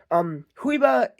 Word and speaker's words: Juyba: was made by a company called Huyba. It's spelled Juyba. I actually have one Huyba figure.